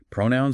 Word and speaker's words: Pronoun: Pronoun stress on the first syllable.